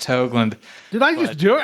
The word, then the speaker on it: Hoagland: Toronto excellent and hogland how are you doing hey I'm going good man it's Hoagland though I'm just gonna be straight it's pronounced hogland did I just do